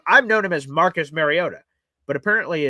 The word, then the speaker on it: Mariota: Which, by the way, I just learned that apparently we've been mispronouncing Marcus Mariota's name the entire time. I've known him as Marcus Mariota, but apparently it's Mariota.